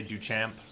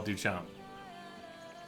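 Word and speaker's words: Duchamp: Journal it's a house the p is silent right don't say do champ log book of the archaeological Expedition under the guidance of Isabel duam our excavation is underwritten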